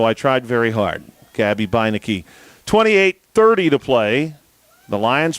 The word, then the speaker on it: Beinecke: And he pointed to Gabby Beinecke's name, and he said, that name is said Beinecke. And I said, well, thank you. I would not have imagined to pronounce it that way.